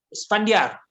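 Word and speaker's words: إسفنديار: Isfandiar. Pandia. Isfandiar. Oh, Isfandiar. Susahnya nak sebut. Macam mana ejaan dia?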